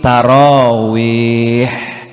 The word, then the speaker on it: tarawih: Orang Arab bilangnya sholat ini tarawih. Ta, ro, alif, waw, ya, ha. Jadi apa bacanya Bu? Tarawih.